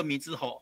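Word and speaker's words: 瑞穗: 水尾哦是水尾的意思，但是尾啊呢，哦以叶发音嘛，米之屋伊个念做米之户，啊就变成瑞穗。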